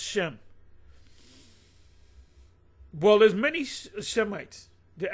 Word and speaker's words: Shem: They're really supposed to say Shem. It's pronounced Shem.